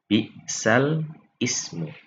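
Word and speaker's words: بِئْسَ الِاسْمُ: Kalau umpamanya kita baca tanpa hukum bacaan nakal, maka kita bacanya bi'sal ismu. Tapi karena hukum bacaannya adalah nakal, maka kita langsung menggabungkan jadi bi'salismu. Bi'sal ismu, bi'salismu, ya. Jadi jangan bacanya bi'salismul fusuq.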